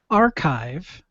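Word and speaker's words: arXiv: it is actually pronounced archive the X is treated as if it were the Greek letter Chi and it is a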